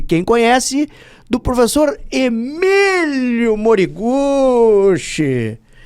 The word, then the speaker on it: Moriguchi: O professor Moriguchei Pai, a sua história já já começa peculiar porque o Moriguchei pai e como é que é? Eu pronunciei o nome dele errado da outra vez? Yukio. Moriguche.